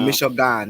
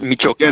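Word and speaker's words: Michoacán: It's called Michoacan. You're supposed to pronounce like Michigama. Michoacan. It's Michoacan.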